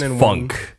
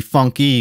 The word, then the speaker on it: FUNKe: It was supposed to be FUNKe because it's the tiny E. So it's like syllable, but so the canon one is FUNKe.